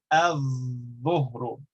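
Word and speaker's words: الظهر: Whereas dha is pronounced with your tongue very close to lam, and so we say al-dhuhru. We don't pronounce the lam.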